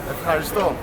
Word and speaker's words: ευχαριστώ: Ευχαριστώ.